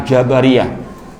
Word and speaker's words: Jabariyah: Wasabi as sabar nah Apakah sama Jabariyah dengan Jabariyah yang betul membacanya kelompok Al Jabariyah seperti Al qadariyah Apakah bila kita